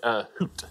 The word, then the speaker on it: Hut: Hoot is how they pronounce it.